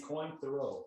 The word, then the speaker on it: Cointreau: And you can use triple sec, but they said that this, and we have debated on how to say this, but it's Cointreau. Cointreau.